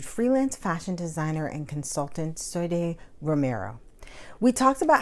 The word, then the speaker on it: Soidée: Soidée. Soidée. Okay. It's in Spanish.